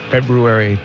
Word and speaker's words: February: I, again, had made it to my goal to pronounce the R in February every time I said the name, because it's there.